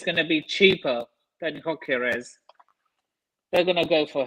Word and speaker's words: Gyökeres: I can never pronounce his surname. Yeah, Gyökeres.